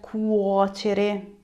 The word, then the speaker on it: cuocere: Now that you know cucinare, we can look at cuocere. Be careful how you're pronouncing it.